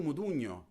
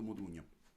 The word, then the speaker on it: Modugno: So these two artists are Domenico Modugno, whose name is not suggesting anything outside of Italy, because actually it's very hard to pronounce the ñ sound in Modugno.